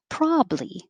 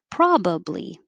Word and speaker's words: probably: can say both ways you can say probably with two syllables pra you have to open ah probably or three syllables probably i probably say probably more often 22 is also two